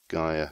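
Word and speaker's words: Gaia: know the grimoire of Gia stuff or GA depending on however you want to pronounce it is a little bit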